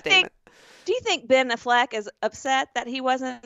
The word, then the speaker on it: Affleck: just called him ben affleck it's been affleck ben affleck okay look it's like aflac i was like i